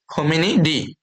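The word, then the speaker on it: Hominidae: দেখো ফ্যামিলি লাস্টে কি ইচ্চারণ হয় না তো হোমেনি এটারও কিন্তু লাস্টে উচ্চারণটা হয় ই এর মত এভাবে মনে রাখতে ফ্যামিলি ফ্যামিলি হোমেনিডি ওকে তারপরে কিংডম তো সবাই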